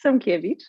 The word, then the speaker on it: Sekiewicz: Well, it's Sekiewicz in Polish, but Sekiewicz is perfectly acceptable.